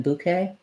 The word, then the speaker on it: bouquet: But brooch with an O, bouquet, I probably use bouquet more often than bouquet, and then boutique rather than boutique.